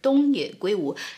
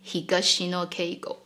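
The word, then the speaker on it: 東野圭吾: This drama is based on a Japanese novel written by the very famous Japanese crime detective story writer Dong Ye Guiwu. That's his name pronounced in Chinese, Higashino Keigo.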